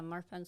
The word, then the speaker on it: Marfan: I mean, it's Marfan syndrome, right? Am I pronouncing that correctly? Yeah. Marfan syndrome.